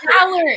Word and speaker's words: Valor: quilts of velour, and I was like, who's velour? Valor.